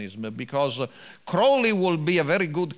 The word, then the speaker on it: Crowley: something similar and so introduce himself say hello i'm aleister crowley i double in everything unholy and so you remember the exactly the right pronunciation but crowley anyway try to create